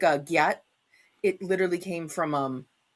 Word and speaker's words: gyatt: It's a phonetic spelling of a pronunciation of god damn. Like if you saw something you went gyatt damn.